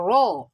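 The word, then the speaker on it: راء: should be flat so that's just the difference between letter r in english and letter raw in arabic raw your leaves would be would be sacred would form a round sheep while when you're pronouncing r in english it is it is um your lips will be flat so as in rain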